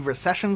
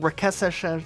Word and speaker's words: Recession: In Halo 2, there's a skull called the Recession Skull, and I've heard it be called Rekeshen. I don't even know how to repronounce what they called it. Rekeshen Skull.